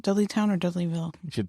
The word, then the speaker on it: Dudleytown: what they discovered during their little investigation in dudley town the warrens actually had warned people about this